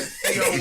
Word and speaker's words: Theo: It's a Theo Warren. Theo Warren. I heard We're not gonna go down this path again. Please don't do it. The H is silent, bro.